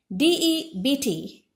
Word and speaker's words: debt: have the following words d-e-b-t debt pronounced as debt sound in the middle is silent the letter b is silent next business business the